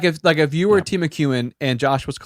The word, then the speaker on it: Timucuan: hmm It's Timu You don't have to spell it. Cuan, Timucuan tribe.